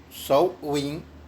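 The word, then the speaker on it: Samhain: por los druidas llamado shine aparentemente pronunciados a pan aunque algunos dicen que es a wind o show wing y aparentemente significa fin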